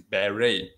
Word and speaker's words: beret: yes french french so beret of beret is a french word okay because normally the tia is silent one in french okay so this is barry okay okay now this